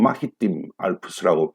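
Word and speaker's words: Alpes-Maritimes: 보시면 아시겠지만 여기가 마리타임 알프스, 해양 알프스라고 해가지고 이 사람들은 마히팀 알프스라고 발음을 하는데 해양 알프스라고 해서 산악 지역입니다.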